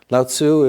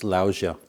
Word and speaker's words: Lao Tzu: many different pronunciations so latsu is what I grew up reading I think now more commonly it's laosia um Chinese is not